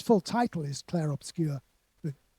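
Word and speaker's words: Clair Obscur: Its full title is Clare Obscure with pronounced with a French accent.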